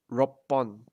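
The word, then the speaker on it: 六本: To change it from Hon, to attach the number to the counter, you would change the pronunciation from Hon to Pon or Bon, depending on like which number it is.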